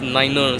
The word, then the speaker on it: nine: So you can pronounce 5 as fiver, 9 as niner.